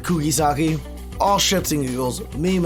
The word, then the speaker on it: Kugisaki: know every single reaction, I called her Kugurasaki. I know now her name is Kugisaki. I'm pretty sure that's how you pronounce it, Kugisaki.